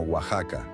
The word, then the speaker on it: Oaxaca: x en su escritura existen otros nombres propios derivados del nahuat como Oaxaca que mantienen la ortografía original con x a pesar de que su pronunciación es con j esto responde a la